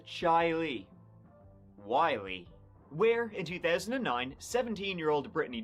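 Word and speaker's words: Chili: We start off in Rochester, New York, and we're going to the town of Chile, though it's pronounced Chile Wy, where in 2009, 17-year-old Britney Drexel wasn't was not having a great time of it.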